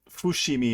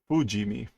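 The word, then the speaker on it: 不死身: no uh so a Fushimi is like Immortal we see that in Fullmetal Alchemist oh shimi uh I guess that's not how you say it let's try fujimi immortality so it as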